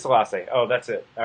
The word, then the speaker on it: Selassie: you said yes Allah say it is Selassie oh that's it all